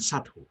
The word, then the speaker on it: subtle: out ถ้าเป็นกริยาถ้าเป็นนามก็เป็น breath นะครับอันนี้ให้สังเกตดูแล้วก็เมื่อกี้มีคำหนึ่งที่ท่านอาจจะออกเสียงไม่ถูกซึ่งจริงๆเนี่ยผมก็ออกเสียงไม่ถูกมาตั้งนานนะครับว่า subtle นะครับเรามักจะออกเสียงว่า subtle จริงๆมัน subtle นะครับ subtle ตัว b เนี่ยแทบไม่ออกเสียงเลยครับท่านลองไปดูให้ดีๆนะโอเคครับ next one please and